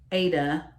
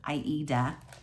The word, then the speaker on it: Aida: Okay, so the fabric is the minty green 14 count opalescent Aida, or as you're supposed to pronounce it, Aida, which I don't.